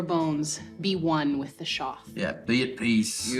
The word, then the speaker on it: Shoth: peace, lose your bones, be one with the Shoth. Yeah, be at peace. You would see Beck reach into his apron and drop a bit of salt in front of him. Be one with the Shoth.